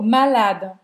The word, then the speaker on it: malade: Termina essa pronúncia no D, tá? Sai bem discretinho. Je suis malade.